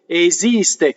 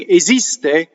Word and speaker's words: esiste: So the next time nella fantasia comes in, then we have esiste, esiste. Here's another S word that you can speak, sing esiste. When you sing, you say esiste. It changes, right?